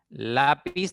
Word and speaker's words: lápiz: Lápiz tiene 2 sílabas. Esta palabra tiene la mayor intensidad en la segunda sílaba. Por lo tanto, ya es una palabra grave.